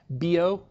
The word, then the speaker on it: Biot: It would be B-I-O-T in spelling, but the way you pronounce it is B-O. There's a few names and things that I butcher, and I really don't know how to correctly pronounce, but this one is more consistent in the literature. It looks like the Biot number or something, right? But it's B-O.